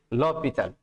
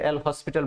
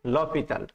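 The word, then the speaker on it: L'Hôpital: Note, এল হসপিটাল, কিন্তু এটার main উচ্চারণ হচ্ছে লপিতাল মাই স্টুডেন্ট। অনেকে এটা এল হসপিটাল বলে থাকে, কিন্তু এটা মেন উচ্চারণ হচ্ছে লপিতাল।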